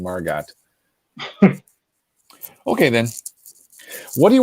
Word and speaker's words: Margot: uh thank you okay I heard a meteorologist pronounce the T on her ago hurricane Margo so hurricane Margot okay then what are